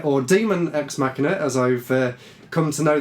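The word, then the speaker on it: Daemon X Machina: supposed to be pronounced even though it's spelt daemon is actually some sort of old-style way of saying demon so demon ex machina they showed it off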